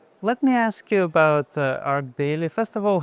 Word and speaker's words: ArchDaily: So it should be arch daily but it's arc daily because it comes from architecture. And how do you say it? Art daily.